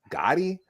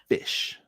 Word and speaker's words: ghoti: And he writes out GHOTI, and he says, GH makes an F sound, as in rough. O makes an I sound, like in women. And TI makes a sh sound, like in motion. Fish.